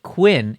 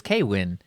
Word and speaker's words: KWin: You're the So- first person I've ever heard calling it Quinn, and I like that better because it's a single syllable, but I've always heard it as Kwin. I've gone interchangeable on it, but I find Quinn to be faster and easier to say.